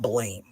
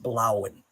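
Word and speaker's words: Bláinn: side it's worth noting there's a dash above the a which means that the name is blow not Blain it's pronounced blowen and blowen means blue the blue one or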